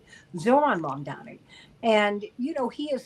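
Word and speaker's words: Zohran Mamdani: Well, you know, and pardon me for mispronouncing your name. I don't know why I wanted to make him Cororon, but he's Zoron Mandani. Zoron Mondani and you know he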